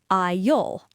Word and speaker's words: I'll: Let's talk about the pronunciation of I'll, because this one causes a lot of friction. Students try to clearly pronounce the I and the L, I'll. In natural speech, the word I'll often sounds exactly like the word all, A-L-L, or the word I'll, A-I-S-L-E.